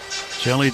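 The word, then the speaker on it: Hjelle: Jelly Delta sinker. Jelly's name spelled H J E L L E pronounced just like Jelly.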